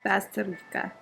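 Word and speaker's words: Bazterrica: Basterica. Okay, Agustina Basterica. Okay, got it. Agustina Basterica.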